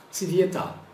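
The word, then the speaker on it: цвета: Então, nós temos aqui a palavra no plural com A, e a gente pronuncia tsivieta.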